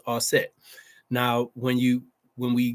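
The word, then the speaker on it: Aset: Goddess Isis AKA AET Isis is the Greek pronunciation for those of you who don't know the true pronunciation is asset now when you when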